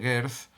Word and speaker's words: Geertz: Frente a esta visión de Geertz, y lo pronuncio de forma correcta en castellano, frente a esta visión